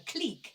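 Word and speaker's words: clique: are a click and that is how you pronounce it if anyone wants to know not a click a click c l i qu E from the French cleck which means an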